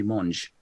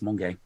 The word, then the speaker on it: Monge: This is a really educational blog post, because up until like 2 weeks ago, I thought it was Monge. It's not, it's Monge.